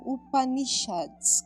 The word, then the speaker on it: Upanishads: E são descritos nos textos clássicos denominados como Upanishads. Como é que é a pronúncia certa?